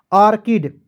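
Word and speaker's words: orchid: डी का ड लिखेंगे ऑर्किड क्या पढ़ेंगे ऑर्किड क्लियर तो यहां पर दोस्त देखना है सीच का प्रयोग यहां पर भी क के रूप में करना है उसके बाद देखेंगे सी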